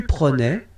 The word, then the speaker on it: prenais: So same thing here, final S not pronounced. Je prenais, tu prenais, il prenait, final T not pronounced, so the same form, okay?